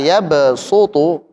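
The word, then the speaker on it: يبسط: Tapi di riwayat yang kita baca ini karena sin di atas diunggulkan maka bacanya apa? Sin. Kita baca coba pakai sin. Wallahu yaqbidhu waabsutu wa ilaihi turjaun. Silakan. Coba ulangin. Yabsutu. Yabutu. Su tipis dulu. Yabsutu. Yabsutu. Nah, pakai sin ya.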